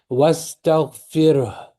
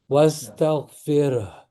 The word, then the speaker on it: واستغفره: Wastaghfirh. Wastaghfirh. Because you can't skip letters. If the letter is there, you have to say it.